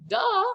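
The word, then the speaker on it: deux: punched in the gut yes there's an x at the end but we don't say it we just say it's kind of like duh i know the number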